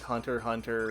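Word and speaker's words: Hunter × Hunter: that it's like it's like other series like Hunter Hunter and spy family which are like there's an X there you don't say the X um in Digimon crossw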